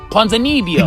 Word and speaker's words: Ponzinibbio: on the Ultimate Fighter Brazil, we got Santiago Ponzinibbio. How do you pronounce it? Ponzinibbio.